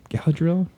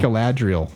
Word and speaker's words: Galadriel: uh you know uh Galadriel again gadel gadriel Galadriel I'm like that's not how you say her name but yeah Galadriel we're